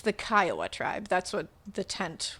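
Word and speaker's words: Kiowa: Uh, and also I just wanted to quickly say I pronounced uh the Kaioa tribe wrong. I said Kioa. So somebody very nicely was like, "Oh, hey, it's the Kaioa."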